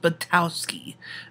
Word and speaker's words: Buttowski: our other competitor kik batowski that's pronounced batowski um i you know